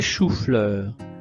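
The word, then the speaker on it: choux-fleurs: J'adore les chou-fleurs. J'adore les choufleurs. Le X ne se prononce pas.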